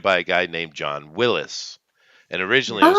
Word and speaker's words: Willis: But I'm just saying it's technically pronounced Willis. The man who made it, his name is John Willis. It's just spelt with a Y at the end instead of an IS, YS instead of IS.